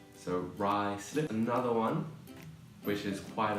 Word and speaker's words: Ruislip: So just a bit of advice is that sometimes in London, the pronunciation of places is very different from how it's spelled.